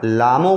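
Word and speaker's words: Lhamo: उसके बाद एक फीमेल कैरेक्टर का नाम था जिसको पढ़ने में मैंने कहा था एच साइलेंट कर देना, लामो पढ़ना।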